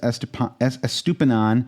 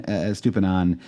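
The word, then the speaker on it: Estupiñán: Number 2 is Estupinan. I always want to add an extra syllable to his name for some reason.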